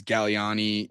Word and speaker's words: Galliani: Yeah, I definitely can understand that my last name uh is Galliani G- A G. The second G is silent.